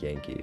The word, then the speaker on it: Yanqui: I think a comment said you pronounce it Yankee, so I'm gonna call it that.